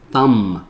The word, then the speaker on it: thumb: 其实 mb 在一起的时候呢，这个 b 都不发音，OK 比如说这个攀爬，比如说什么大拇指，对不对？Thumb 啊，这个 b 是不发音的哦，特别注意一下。推 pushing，alright，排队 lining up，开车啦。骑车啦，riding a